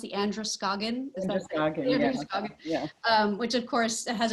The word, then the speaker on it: Androscoggin: How's it pronounced? The Androscoggin? Androscoggin, yeah.